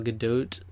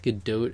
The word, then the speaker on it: Gadot: pretty convinced that gal gadot is a good dude I believe it's a good dote actually which is a really annoying pronounce the pronunciation of that name but a good dote it is she's probably the most